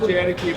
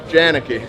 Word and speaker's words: Janicki: thank you Mr janii not janii but janicki it's uh I I